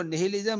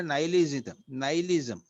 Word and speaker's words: nihilism: इसको निहिलिज्म नहीं, प्रोनाउंसिएशन उसका करते हैं ये लोग इंग्लिश में नाइलिज्म.